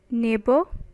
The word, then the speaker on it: neighbor: your first word is neighbor silent though in this verse the letters gh are silent as you can see